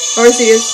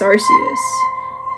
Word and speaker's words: Arceus: you marcias oh no don't suck me in artheus pokemon legends arceus so i kind of got the name wrong so i'm supposed to say pokemon art